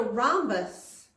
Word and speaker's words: rhombus: ready for it it's called a rhombus Aramis that each is silent a rhombus and if